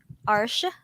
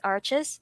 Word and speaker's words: Arches: taught me about that it's a french brand so you have to pronounce it um that way so or i believe most people know it as arches um so yeah i